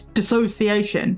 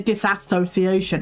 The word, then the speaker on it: dissociation: No, it's dissociation. There's no ass in the word, but people say disassociation.